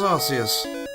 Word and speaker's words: Arceus: And if you remember correctly, that game pronounced it Arceus. Wow. So it is Arceus.